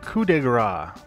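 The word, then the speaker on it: coup de grâce: oh by the way that's pronounced coup de Gras there are intruders in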